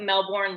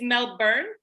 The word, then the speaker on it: Melbourne: So it's Melbourne. Melbourne. Oh, okay, it is. So not Melbourne. Melbourne. You're right. Like the born. Oh yeah, okay. It is spelled that way, but no one says it that way.